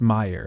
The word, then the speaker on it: Mayer: Now this one, Oscar Mayer, I mean, they pronounced Meyer, right?